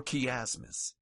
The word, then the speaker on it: chiasmus: CH is pronounced as K, as in calcus or chiasmus. It's never pronounced as ch.